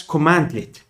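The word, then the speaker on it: cmdlet: is called CM delete pronounced as commandlet a commandlet is a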